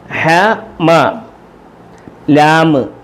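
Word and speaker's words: حملوا: മീമ് മ മീമ് മ മീമ് മ ഹ മ. ലാമ് ലു ലാമ് ലു ലൂ ലു ലൂ. ഹമലൂ ഹമലൂ കണ്ടോ ഹമലൂ എന്നാണ് എഴുതിയേക്കുന്നത്. അലിഫ് ഉണ്ടായാലും ഇല്ലെങ്കിലും ഹമലൂ എന്ന് വായിക്കും.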